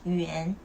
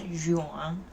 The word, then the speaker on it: 远: Remember, Y and U always, the real pronunciation is always like Y and U. Okay, so this is 远, not 远.